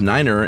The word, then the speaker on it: niner: exception of Niner uh we use Niner instead of nine because over garbled radio it sounds like five but mainly because NATO countries